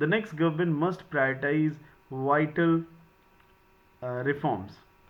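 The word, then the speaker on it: prioritize: और इन दोनों में प्रोनाउंसिएशन का बड़ा खेल है। एक वर्ड है प्रायोरिटाइज और एक वर्ड है प्रियोरिटीज। तो दोनों के प्रोनाउंसिएशन की आप प्रॉपर प्रैक्टिस करिएगा। This is प्रायोरिटीज and this is प्रायोरिटाइज।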